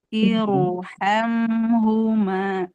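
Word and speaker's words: ارحمهما: Jadi dibacanya irhamhuma, iru ya, tidak tidak tipis tapi irhamhuma. Atau Ibu di surat Al-Fajr,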